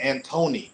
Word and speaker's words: Anthony: to enunciate your words like Anthony right they pronounce it Antony if you say Anthony they're gonna say what they don't understand that but you say Antony they got you they understand that so it's how we